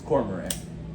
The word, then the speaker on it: Cormorant: It's Cormorant. Yeah. I'm sorry, Cormorant.